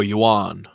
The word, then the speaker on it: yuan: thought it was yen. Is it? Oh, you is it like the UN or whatever? Oh, yuan. Yuan. Okay, so Yuan?